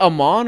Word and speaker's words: Amen: Is it Amon or Amen? How do you say his name? A Thompson? There's a Sar and then Amen. Okay, Amen.